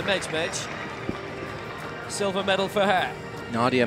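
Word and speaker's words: Medjmedj: If you call an athlete Nadia Mejmej and you go and ask her afterwards how she pronounces her name and she says Nadia Mejmej, silver medal for her.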